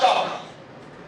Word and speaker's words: chalk: एल क्या है? Silent है। लिखा जाता है मगर पढ़ा नहीं जाता। लिखा हुआ क्या है? वॉक टॉक चॉक। पढ़ना क्या है? वॉक टॉक चॉक। अच्छा, डू you know what is तजवीद?